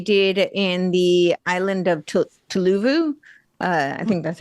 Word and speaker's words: Tuvalu: They did in the island of Tuvalu. I think that's how you say it. Tuvalu. That's it. Tuvalu.